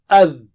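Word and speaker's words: ذ: The or adh. Adh. So don't say it as za. Za is not same as the. So can you repeat after me 3 times? Adh, adh, adh, adh.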